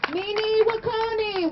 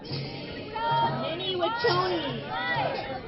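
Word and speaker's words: Mni Wiconi: All right, Mini Wakoni, water is life! Mini Wakoni, water is life! Mini Wachoni.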